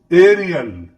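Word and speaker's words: aerial: फिर देखिए एरियल, एरियल यहां पर भी क्योंकि रा है तो है ना, आपको बताया था एयर, एयर ऐसे होगा, देखिए एरियल, तो एयर टाइप उच्चारण हो रहा है, एरियल यानी होता है हवाई।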